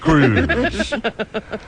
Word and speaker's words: Cruz: In a Fontana courtroom, I'm Cruz. My last name rhymes with news.